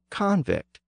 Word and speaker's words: convict: the prosecutor is successful the person becomes a convict with the stress on the first syllable the same thing happens